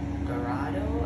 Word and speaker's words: Dorado: We had food at the Dorado, and then we went to the main buffet, which is over the family side.